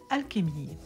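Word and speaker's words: Alchémille: vais aller vérifier et effectivement la prononciation réelle est alchemie donc là le kémi c'est une plante magique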